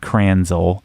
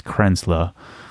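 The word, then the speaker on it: Kränzle: It's not Kranzel, it's Krenzla.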